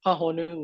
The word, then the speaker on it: Pahonu: Yes, you can pronounce Pahonu with a kahako over the A.